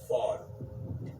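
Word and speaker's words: ephod: okay and and it was called and it's it's spelled EP h o d but the way you say it is fod okay so right here where he says the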